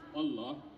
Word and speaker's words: Allah: It's pronounced Allah, but we run on the lunar calendar.